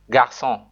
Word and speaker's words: garçon: It changes a hard C like K into a soft C sound like S, e.g. garçon.